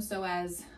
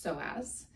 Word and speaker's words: psoas: I use the term so as I the the muscle name is spelled p-s-o-a-s pronounced so as and typically when you